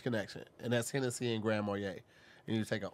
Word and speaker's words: Grand Marnier: say it correctly man what's the right way Grand Marnier Marnier Wanye okay you can say